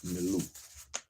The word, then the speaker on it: milieu: M-I-L-I-E-U. I'm going to pronounce it milieu until I see differently.